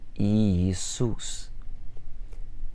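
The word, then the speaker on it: Иисус: If we take the word Iisus, that's Jesus, first two letters are exactly the same. Each one is its own syllable. Iisus.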